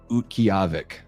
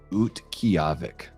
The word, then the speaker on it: Utqiagvik: And it translates to a place to gather wild roots and it's pronounced Utqiagvik. Utqiagvik. So it's got a little bit of a Russian kind of feel to the name, but Utqiagvik.